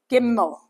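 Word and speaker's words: גימל: Giml. Giml. So, we go we start from the left at the top and we go across and diagonally down and then we give it a leg. Yeah. Gimmel.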